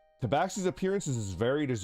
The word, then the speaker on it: tabaxi: Now the race, if you want one that's a little bit closer to what you are you familiar with a tabaxi? I don't know how to pronounce it.